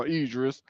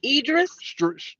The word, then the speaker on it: Idris: Idris oh say it was this how you say his name Edris yeah well that's what I said Edis it's close enough it sound more right because I've been to call him eldis so you right closer